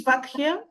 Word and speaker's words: Bakkheia: yeah it's B bakak is it vakia or vakia in Greek it's vakia so I think but